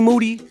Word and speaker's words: Moody: Remember, G Moody, whose last name rhymes with Duty, predicted that the San Antonio Spurs were going to beat the Golden State Warriors.